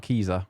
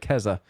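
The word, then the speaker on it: Keza: wrong kezza kezza okay because it's not kiza i thought it was kiza for a bit but kezza kezza mcdonald from the guardian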